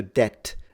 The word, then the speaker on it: debt: the it's similar to debt debt used to be spelled D T T the French way and now English spells it d e BT even though the B is not pronounced in fact it's very